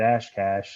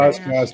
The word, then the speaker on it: Oshkosh: I didn't get Oshkosh right until like 4 months of living. I kept calling it Ashcash. So I mean, my pronunciation of Wisconsin's terrible. Oshkosh for gosh. Yeah. Exactly. Ashcash for gash.